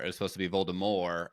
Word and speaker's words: Voldemort: was supposed to be Voldemort as in like the French pronounce but the audio reader pronounced it Voldemort and so that just